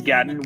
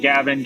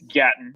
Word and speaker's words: Gatton: So my name is Gatton, which the easiest way that I can explain how to pronounce that is Latin with the G, because everyone gets it wrong. People are always like Gavin, Gatlin, I get anything with the G. But it's Gatton, and I'm an artist from Tampa, Florida.